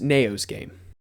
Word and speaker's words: NAOHSGAME: It's pronounced No's game.